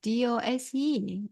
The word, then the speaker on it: dose: But here is D O S E. It's different. So we need to pay attention to it. It pronounced like dose.